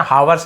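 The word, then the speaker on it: hours: बाय आवर्स है ना आवर्स नहीं बोलेंगे आवर्स बोलेंगे ए साइलेंट होता है वेंट बाय यानी गुजर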